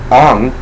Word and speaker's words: Aang: Well, I'll get to the grammar issues later, but in the movie it's pronounced Ong.